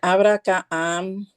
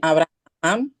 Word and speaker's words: Abraham: Eh, eh, simplemente eh y al final que dice Abracaam, está mal dicho, se dice Abraham.